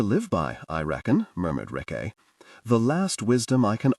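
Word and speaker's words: Rikke: I'm Rick, said Rick. Rhymes with yes, said Sulfur, smiling up.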